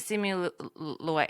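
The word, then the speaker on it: Simu Liu: I think thank you so like see it see me Louie sorry how do you say his last name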